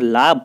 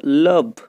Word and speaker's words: love: আমরা অনেকেই এটার ভুল উচ্চারণ লাভ বলি। কথাটা লাভ নয়, কথাটা লাভ, LOVE, লাভ।